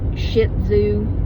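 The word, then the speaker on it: Shih Tzu: a shetu okay and it's actually sh sh i h TZ U but we usually pronounce it shitzoo okay that's just how we pronounce it but I think it's actually supposed to be Sho she zooo well ran told me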